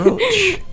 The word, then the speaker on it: brooch: It's spelled with 2 O's. It It looks like brooch. Is it a brooch or a brooch? It's a brooch.